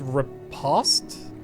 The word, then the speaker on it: riposte: post as in frost so it's called it's pronounced riposte their journey through a forest is interrupted by